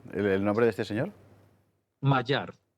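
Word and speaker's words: Magyar: ¿Cómo cómo se pronuncia, por cierto, el nombre de este señor? Mayar. Mayar.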